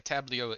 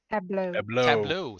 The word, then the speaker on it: tableau: in time so it's like a tablio in there tab do tab Tableau thank you uh brain didn't know